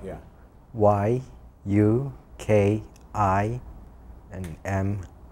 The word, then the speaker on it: Minami: Y-U-K-I and M-I-N-A-M-I. How do you pronounce that last name?